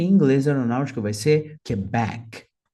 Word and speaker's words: Quebec: inglês aeronáutico vai ser Quebec Quebec então back é mais forte a letra R Romeo